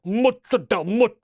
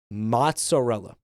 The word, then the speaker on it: mozzarella: I prefer that he pronounces it that way than Madel. Mozel. M. I hate that I can't stand that. Shut up. Mutz. Listen to me. Mozarella. Mozzarella. Mozzarella.